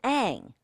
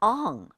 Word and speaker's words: Aang: In the TV series, he's Aang. In the movie, he's Ong.